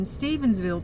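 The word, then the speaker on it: Stephenville: there's a place in stevensville texas that's not stephen because i say it wrong because i got this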